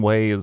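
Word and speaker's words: Wegh: We were gonna go to my buddy John Way's house. Ooh, nice. He's got a cool last name. And yeah, but it's spelled W-E-G-H.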